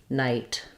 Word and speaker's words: night: these words it's silent also it's silent in words like night or right it just affects how we say the vowel um okay so feel